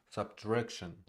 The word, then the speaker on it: subtraction: Subtraction, subtraction, subtraction, subtraction, subtraction. First syllable is unstressed.